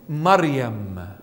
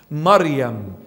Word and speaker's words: Maryam: divine inheritance so Martha is earthly inheritance Mary Maryam is the proper translation or the proper pronunciation I should say Maryam Maryam has a lot of meanings in that name